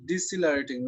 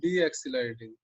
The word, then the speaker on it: decelerating: one also decelerating i i told you to uh pronounce decelerating not deaccelerating huh this is decelerating